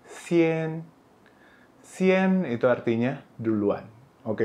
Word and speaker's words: 先: Ini bacanya xian.